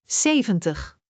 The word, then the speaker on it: zeventig: Zeventig, .